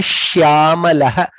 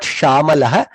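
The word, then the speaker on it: श्यामलः: Jayatu jayatu megha shyamalaha. Sha also should be heard. Ya also should be heard. It is not shamalaha. Shyamalaha. Shya. That is the sh and ya both has to be heard.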